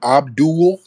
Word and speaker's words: Abdul: let's get um Abdul yes sir yeah that's me how's it going I'm good now how do it pronounce your name again it's pronounced Abdu Abdu Abdu no excuse me what